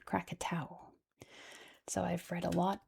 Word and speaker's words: Krakatau: So in history, this big old volcano has been known as Crakatoa in the English- speakaking world, but in Indonesia, it's pronounced Crakatau.